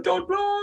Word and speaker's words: Dudley: Sedgley, Dudley. You're saying this, I'm actually from Dudley, and I can pronounce it right.